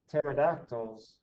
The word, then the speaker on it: pterodactyls: can't you ever hear pterodactyls going to the bathroom because the p is silent all right that's number